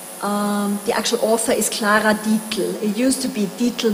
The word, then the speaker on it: Dietl: The actual author is Clara Dietl.